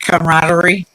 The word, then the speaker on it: camaraderie: Camaraderie.